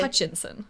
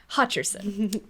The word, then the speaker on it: Hutcherson: Did I say his name right? I hope I did. Josh Hutcherson? Yeah. Hutcher, yeah. Hutcher, it's not yeah. Hutchinson. Hutcherson, yeah. Hutcherson. Sorry, fans of Josh.